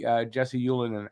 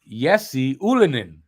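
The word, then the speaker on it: Ylönen: will be taking uh Jesse Ulen out of the um did I say it wrong I said it wrong he yesie Ulin out of the lineup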